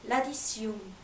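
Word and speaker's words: l'addition: 계산서는 바로 불어로 라디시움.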